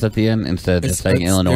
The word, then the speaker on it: Illinois: just like people say Illinois they pronounce the S at the end instead of Illinois there's no s at the end well there is an S but you don't pronounce it right okay so yes